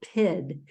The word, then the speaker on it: pyt: a word for this it's called PID it's spelled PYT and it's a cultural